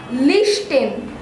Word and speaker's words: listen: Listen.